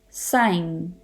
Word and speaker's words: sign: precedes the letter n for example design sign foreign the g is not pronounced it is silent next up is related